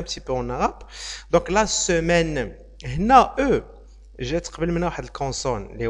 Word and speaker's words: semaine: tu à locuteur français natif une ne le prononce pas elle va dire la semaine c'est obligatoirement ça doit se prononcer de cette